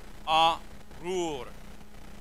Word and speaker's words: Arur: so it's kind of Arur. Say that with me. Arur. It's almost like there's a ghost L in the vav. This is actually a vav, but it's pronounced U in Hebrew. Arur.